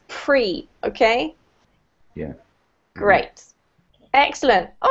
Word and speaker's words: pre: In English, it rhymes with free, so it's pre, okay?